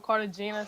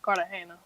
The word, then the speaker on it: Cartagena: wrong i'm not well most people i just tell them carter gina so i don't be like a house but like it's really pronounced carter hannah okay yes sir i